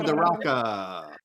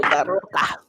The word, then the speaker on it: DeRocca: Or if you're from Ibiza, Oh DeRocca. my god. I love that. I love that. No. Do not roll your R's in the same chat with me. Daroca.